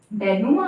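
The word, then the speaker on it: denouement: डिनो में आता है, डेनुमा आता है, सॉरी इसका प्रोनाउंसिएशन ही ऐसा है, बट स्पेलिंग आप इसकी याद रखें, इसमें ई आता है यहाँ पर, DENOUEMENET, डेनुमा।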